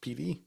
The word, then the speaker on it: Pittee: Yeah, his last name is spelled Pittee. Google tells me it's pronounced Peatee. I would say pity, but I want to say Peatee.